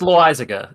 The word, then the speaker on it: Loizaga: It's Loizaga. I know how to pronounce it, but New Yorkers are not going to say that.